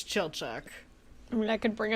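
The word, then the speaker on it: Chilchuck: of hobbit exist yeah also is that how you're supposed to say his name uh no no okay i think it's it's it's chill chuck i mean i could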